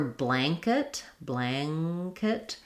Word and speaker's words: blanket: And for blanket, that nasal sound is actually going to be an ang. It's going to be an ng sound, because in a word like blank or blanket, when we have the n followed by the k, it's actually an ng and k sound. Blanket. So there your ah sound sounds even more nasal.